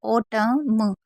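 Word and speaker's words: autumn: मैंने बताया अगर एम एन साथ में होगा तो हम एन को नहीं पढ़ेंगे। जैसे ओटम हम म पढ़ रहे हैं ना को नहीं पढ़ रहे हैं।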